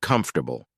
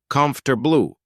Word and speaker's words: comfortable: Take the word comfortable. Many say it quickly as comfortable, but let's break it down.